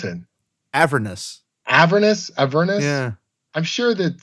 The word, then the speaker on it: Avernus: So I already knew, a year in advance how Descent into Avernus starts and that it takes place in Baldur's Gate.